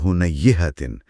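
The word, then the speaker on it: هنيهةً: تھوڑی دیر بعد کہا۔ یہ ہنیہتن کا تلفظ تھوڑا سا مختلف ہے نا؟ جی، تھوڑا سا دھیان طلب ہے۔ میں اسے درست کرنے کی کوشش کرتا ہوں۔ فقال بعد ہنیہتن، پھر اس نے تھوڑی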